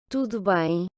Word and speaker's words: Tudo bem: Donc, rappelez-vous la leçon d'hier, le U qui se prononce OU, le O final qui se prononce également OU, et puis le son nasal sur la voyelle du mot qui se finit par M.